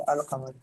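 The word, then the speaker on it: القمر: First one हम अल कमब्र पढ़ेंगे। अल कमर अल कमर पढ़ेंगे। क्यों? क्योंकि आपके पास ये काफ देखें हक का खौफ अजब गम है।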